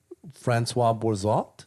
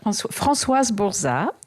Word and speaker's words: Françoise Bourzat: medicine, indigenous wisdom, entheogens, and expanded states of consciousness for healing and growth, with Françoise Bourzat. Is that how you say it? Or am I butchering That's it? okay. Françoise Bourzat.